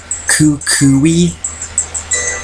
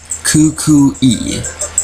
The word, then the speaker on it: Kukui: pronounce that name right Kukui no you shouldn't have a W sound it doesn't have a W in it Kukui there we go Kukui ah so the W